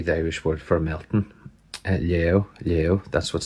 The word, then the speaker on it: Léaghadh: So Higla, Ekel and Shaw, you can see here they've lay to melt, which is different to what we say here in southwest Donegal. And even when you go to the Donegal pronunciation of it, the Ulster, lay, which obviously isn't what we say, Léaghadh, we say.